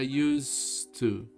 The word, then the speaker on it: used to: Se pronuncia used to. Miren cómo se escribe la pronunciación. Used, como con una Z. Used to.